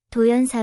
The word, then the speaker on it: 道然寺: 익숙하게 다 가기 위해 도연사 일본식 발음인 도젠 더전가 아니라 한국식 한자 발음인 도연사 표기하였습니다 제 1화 절 옆에는